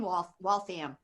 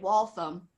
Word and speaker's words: Waltham: and I lived in Waltham. Am I saying it right? Waltham? Yeah, Waltham, yes. I know. I think I used to say it Waltham, and then got schooled that it was Waltham, right?